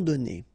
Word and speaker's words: donnés: Okay, so the good news is that you don't pronounce it, so donner, okay? So whether it would be without this final es or with es, you will pronounce it the same way.